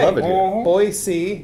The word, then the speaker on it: Boise: Boise. Yeah, there's no Z. No Yeah, Z. That's right. No Z.